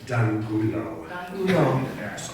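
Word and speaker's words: de Angulo: Many ways to say it, but D'Angulo.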